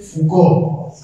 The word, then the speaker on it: Foucault: interesante, el filósofo que se llama Michel Foucault, se escribe Foucault, ¿sí?